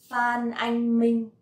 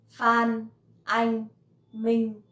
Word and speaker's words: Phan Anh Minh: For example, Phan Anh Minh. Phan Anh Minh. This one is a little bit easy to pronounce because it has no tone at all. Phan Anh Minh.